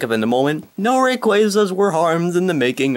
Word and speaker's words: Rayquaza: making of this video i don't know how everyone started pronouncing it rayquaza but it's apparently the most realistic pronunciation somehow because quasar and it's a similar word and stuff in and yeah that